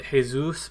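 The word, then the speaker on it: Jesús: a mouthful i'm just i pronounced hey-zeus because i think that's how it's pronounced but it's about Jesus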